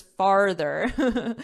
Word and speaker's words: farther: But to help you remember, oh, I put father. It's not father, it's farther. So to help you remember it, just remember that the word has far, which is distance, near, far.